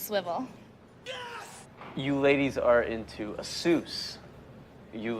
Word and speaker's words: Asus: TTS just said Asus, so that's the correct... I was right. I knew it. I knew it. TTS would never lie. Asus Alti, now they're all low. Is that a Dota 2 reference? Zeus Alt. All right, anyways. DTS pronunciation is the end all be all. Yeah, exactly. It's a fact. It's Asus.